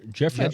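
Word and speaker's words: Giuffre: Jeeoff Joffrey. Jeff. Jeffrey. Jeffrey. Jeffrey. Crazy way to spell Jeffrey.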